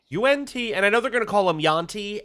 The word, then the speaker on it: yuan: Unti, and we are going to reject that because that's not how you pronounce yuan. Uh, uh, it's not yan, it's un.